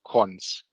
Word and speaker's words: cons: way around in the in the this is pronounced cons so cons you first have the element then